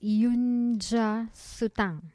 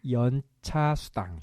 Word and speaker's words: 연차 수당: You pronounce it 윤차 수당. 연차 수당. 윤차 수당.